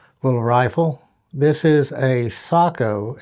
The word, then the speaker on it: Sako: but certainly uncommon little rifle this is a Sako s KO uh a lot of a lot of people say SEO correct pronunciation is Sako but I mean you say SEO everybody knows